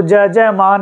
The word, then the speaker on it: यजमान: सधा यह है यजमान तो इस य को जकार उच्चारण होता है इसके अंदर चिन्ह भी ऐसा दिया होता है कि यह ज बोला जाएगा तो ज ज मान ऐसा होगा और वह कहां कहा